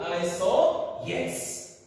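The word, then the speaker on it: isohyets: So the H letter H is silent.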